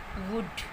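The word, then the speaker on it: would: आता है या एल के बाद जब डी होता है तो वो एल साइलेंट होता है वहाँ पर। For example कुड, शुड, वुड। तो यहाँ पर एल के बाद डी है और ये एल साइलेंट है, ये अब ये प्रोनाउंस नहीं किया जाएगा।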